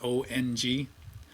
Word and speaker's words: Om: here doesn't know about the original way to pronounce own which is that Ong so when you say that own you put the tip of your tongue on the top of your L the roof of your mouth and that stimulates the